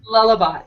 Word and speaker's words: Lullabot: was mispronouncing lullabot um am I saying it right now yes yes yes okay lullabot I love that um it's like a lullabi that's so good so